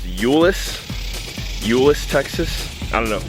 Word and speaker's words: Euless: I think I'm in it's pronounced Ulis Ulis Texas I don't